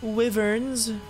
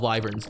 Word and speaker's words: wyvern: Let's go ahead and find some wyverns. Just kidding, they're called wyverns. If you ever say wyverns, you're saying it wrong.